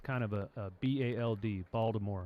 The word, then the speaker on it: Baltimore: Yeah, he's a Baltimore boy. He's born in Baltimore. I said it correctly that time. The natives say it without the T. Baltimore. Baltimore, really? Balmer. Some of them even say Balmer.